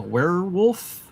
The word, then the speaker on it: werewolf: Uh, werewolf, and it's pronounced with a weer. Werewolf.